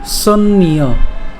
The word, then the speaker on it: সন্ন্য: এরপর ন চ সন্ন্য, সন্ন্য, সন্ন্য কেন? একটা আমরা প্রথমে দন্তাস্য দন্তানু উচ্চারণ করলাম সন, এবার তারপরে আরেকটা দন্তানু উচ্চারণ করবো, তাহলে সন্ন, এবং তার সাথে একটা জফলা আছে। তাহলে আমরা যদি একসাথে যদি উচ্চারণ করতে যাই তখন তার উচ্চারণটা কেমন হবে? সন্ন্য।